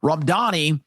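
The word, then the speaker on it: Mamdani: So, as you watch uh Zoran Ramdani uh Randani, I I always want to say Danny because that's how it's spelled. Ramdani uh doing his thing,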